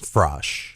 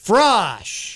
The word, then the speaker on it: Frasch: i am genuinely curious fresh frosh not fresh not fresh frosh because it looks like